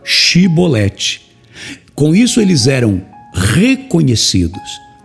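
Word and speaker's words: Shibboleth: eles iam falar chevrolete Eles não pronunciavam este som de CH e acabava saindo o som de s então eles a cebolete ao invés de falar chibolete com isso eles eram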